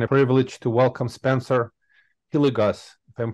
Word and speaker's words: Hilligoss: my pleasure and a privilege to welcome Spencer hilligus if I'm pronouncing it correctly hi Spencer you are Mike